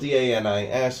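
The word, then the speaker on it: Denis: Well it is spelled D-A-N-I-S , I think in French the ' S' is probably silent. It is probably Danis.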